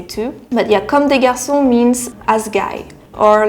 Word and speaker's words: Comme des Garçons: Korean way, this is a pronunciation of 꽁대 가르송. 꽁대 가르송. I really like Koreans who try to speak French. That's really cute. But yeah, we say comme des garçons. Still there is the R, which is so much